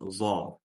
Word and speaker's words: ظ: Буква «зо» так же, как и «заль», «са», у нас произносится именно кончик языка с кончиком верхних слов. «Зо». Просто отличие буквы «зо» от «заля» и «са. Эта буква «зо» у нас твердая буква, через звук «о».